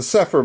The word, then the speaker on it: Cepher: But if just for short, it's the Sepher Bible.